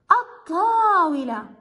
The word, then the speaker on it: الطاولة: كلمة طاولة، لندخل للتعريف على هذه الكلمة، تصبح الطاولة. هل لفظت ال هنا؟ لا. إذا هنا تعتبر هذه اللام اللام الشمسية، وحرف الطاء أيضا مصنفه أنه ضمن المجموعة الشمسية.